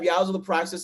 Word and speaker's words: Yzal The Praxis: So I want to welcome Yzal the Praxis. Did I pronounce that correctly, by the way?